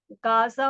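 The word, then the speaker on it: غزة: Trump is openly advocating imperialist expansionist campaigns and plans to take over the Panama Canal, Greenland, and now Gaza or Gaz as it's pronounced in Arabic, where he wants to push over two million Palestinians out of their homeland.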